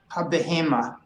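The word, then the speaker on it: הבהמה: Habehema. That's, Habehema. Actually, we pronounce it habehema.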